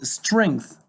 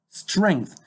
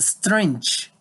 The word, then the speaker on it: strength: case the pronunciation is strength okay strength not strange okay this is a